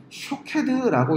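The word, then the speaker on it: שׁוֹקֵד: 자, 오늘 본문에서 아몬드라고 해석된 히브리어를 명사로 읽으면 샤케드라고 읽는데요, 이때는 말 그대로 아몬드입니다. 그런데 이 같은 단어를 동사로 해석해서 읽으면 쇼케드라고 읽습니다.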